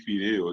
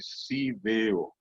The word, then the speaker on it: fideo: La gente comúnmente no puede decir fideo, dice sideo.